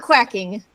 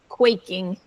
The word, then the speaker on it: quaking: quaking quaking yeah yeah not quacking quaking for example q-u-a-c-k so when uh no